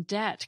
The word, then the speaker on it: debt: This is where the silent B in debt came from.